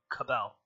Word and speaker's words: Cabal: And if you guys haven't noticed, it has 2 A's in it, but I've been pronouncing it Cabal. So, What? yeah, Huh. it's pronounced as if it is spelled with an E instead of 2 A's.